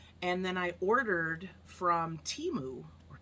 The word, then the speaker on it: Temu: a uh auction and then I ordered from Teemu or temu pronounced some cool stickers that say poison or